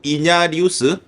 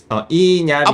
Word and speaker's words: 이냐리투: 알레한드로 이냐리우스? 이나리우스? 알레한드로 곤잘레스 이냐리투. 이냐리투.